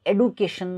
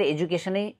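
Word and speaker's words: education: चाहे तपाईँ American English हेर्नुहोस् चाहे ब्रिटिस इङ्ग्लिस हेर्नुहोस्, यो एडुकेसन नभएर एजुकेसन नै हो एजुकेसन. धेरैजसो नेपालीले यही उच्चारण गर्छन् एजुकेसन, तर कसै कसैले एडुकेसन गर्न खोज्छन् त्यो सही होला भनेर, तर होइन एजुकेसन नै यसको करेक्ट प्रोनन्सिएसन हो.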